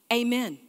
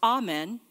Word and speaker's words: amen: Amen. I read this week. I had never read this before, but I read this week that if you're singing it, it's pronounced amen.